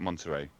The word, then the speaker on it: Monterey: Is it called Is that how you say it, Monterey? Yes. Monterey, Yes.